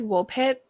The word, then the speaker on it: Woolpit: And Woolpit is pronounced exactly how it's spelled. Wool like a sheep.